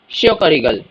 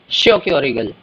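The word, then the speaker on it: Schokoriegel: कखन बना देंगे कुखा को कखन chocolate bar शयोक रिगल शयोक रिगल chocolate सब तो बरे सारे बच्चे दुनिया में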